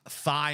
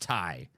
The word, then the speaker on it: Thai: the case of Trump trump actually wouldn't know that it's pronounced Tai he would think it is pronounced thigh so he you know